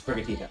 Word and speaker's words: Sprigatito: Sprigatito is pronounced as Sprigatito. That's how that's pronounced.